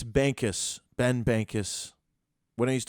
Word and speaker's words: Bankas: Or I had Banana. I've had Banks, Bankas. It's Bankas.